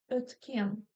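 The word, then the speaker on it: өткен: А если вы ее произносите после согласной, то буква «ё» звучит как «э», «э», «ötken», «ötken», «ötken».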